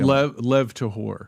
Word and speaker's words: Lev Tahor: Lev Tahor.